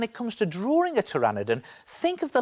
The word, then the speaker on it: pteranodon: Because when it comes to drawing, T is for pteranodon.